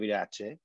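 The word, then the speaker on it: Iratxe: And now in Basque, you will find a lot of the times you find this T and this X, you pronounce it like if it was a CH.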